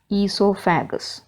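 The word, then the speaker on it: oesophagus: H a G u s and it is pronounced dance ESO faggus after coming through this esophagus or food pipe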